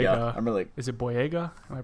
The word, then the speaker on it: Boyega: big and john-boy I I'm really is it boyega am i pronouncing that right yeah John boyega yeah he sounds just like stacker he's also